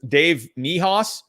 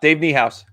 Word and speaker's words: Niehaus: i thought was great um how do you pronounce who is the famous uh the famous broadcaster for the mariners dave mihaas miehaus dave niehaus yeah dave niehaus that was it my oh